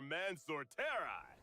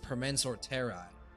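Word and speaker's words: Permansor Terrae: Don Hung for Mansorteri. Oh, it's pronounced Permensor Terrai.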